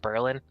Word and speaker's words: Berlin: there's a town called uh Berlin but it's pronounced Berlin and when it comes to Buffalo you've never